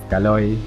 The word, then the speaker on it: Caloy: The most common way that English speakers mispronounce my name is Kaloy, like the word alloy. So I thought I'd nip this in the bud by including a pronunciation guide in my email submission for the video. Unfortunately, I said to pronounce it like the word ahoy and not like the word alloy. Ahoy, kaloy. Not alloy, calloy.